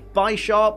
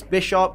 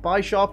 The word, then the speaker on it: Bisharp: incorrectly I normally say by sharp and I know it's bisharp because it's based on bishop and sharp but it can be construed in such a way that by sharp is also correct because